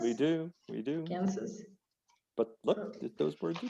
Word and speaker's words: Kansas: There is another state called Kansas. The spelling looks almost the same. Almost the same. Kansas. But you do say the S. We do. Kansas? We do. Kansas.